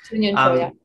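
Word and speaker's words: Kyunghyun Cho: Yan LeCun and Professor Kyung Hyun Cho. Is that a correct pronunciation? We can correct me later. It's Kyung Hyun Cho, And has a master's degree in computer science from University of Massachusetts, Amherst.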